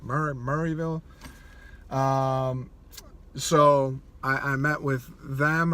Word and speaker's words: Maryville: think it's called, in Maryville. I said Maryville. People started laughing at me. Apparently it's like Murrayville, or Murray, I don't even know how to say it. Murrayville.